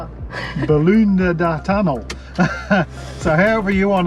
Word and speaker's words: Boolboonda: So how's it pronounced? Boolboonda. Boolboonda tunnel.